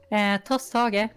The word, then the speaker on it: Tosthage: because it's so not compatible with like English pronunciations. How are you meant to say it? Tosthage.